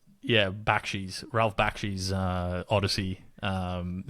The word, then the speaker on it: Bakshi: Uh Ralph Bash's um is that how you pronounce his name? Yeah, Bakshi's Ralph Bakshi's uh Odyssey.